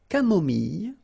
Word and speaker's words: camomille: So remember when we get this E and then double L, it goes like y. Mille, camomille, une camomille, un thé